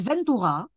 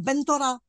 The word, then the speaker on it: Ventura: Il s'appelle Ventura. Oui. Qui est devenu, avec la prononciation arabe, Bentora.